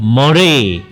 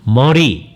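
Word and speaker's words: Murray: 데 어 구속 이라는 책이 있습니다 어 조한 머레이 라는 분이 있는데 우리나라에서 머레이 라고 번역 얻어 이제 발음을 하고요 우리 우리 식으로 바로 많은가요 이제 미국 사람들은 머레이 럼 못알아 듣습니다 머리 그래요 내가 머리 업계 무릎 발 할 때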